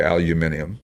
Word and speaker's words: aluminium: It's got the aluminum heads, or as the British say, aluminium.